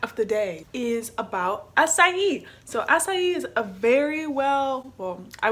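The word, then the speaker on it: açaí: That's how you pronounce it too, acai, acai, acai.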